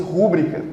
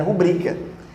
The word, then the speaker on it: rubrica: Eu adoraria que esse termo fosse rúbrica. Acho que esse é muito mais bonito, mas é rubrica. Então não tem acento, não.